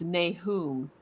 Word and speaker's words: Nahum: The pronunciation that they give for this in the pronunciation guide that's at the end of the Book of Mormon is Nahum. And so, what was that one you just said, Walker? Yeah, it was Nahum, Nahum.